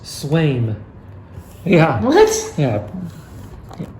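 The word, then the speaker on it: Sveum: Zvam. Actually, it's pronounced Swaim. Yeah. What? Yeah. Silent V? Yeah. Well, the V is a W.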